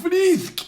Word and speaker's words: Frisk: Otra cosa que me llamó mucho la atención, que me estuvieran reclamando, es que se pronuncia Frisk y Toriel, no Frask y Tarial.